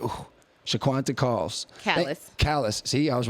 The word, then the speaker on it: Calles: it's Calles.